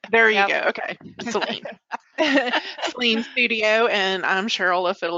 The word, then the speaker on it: Sahlin: Sahlin.